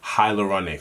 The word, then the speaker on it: hyaluronic: and refresh the skin whilst the hyal hyaluronic hyaluronic and richer that's how it's pronounced hi yep so once the hyaluronic acid